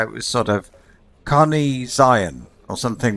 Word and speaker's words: Zion: Zion. There. Listen. I don't know if you can. Zion. So it's like Zeeon.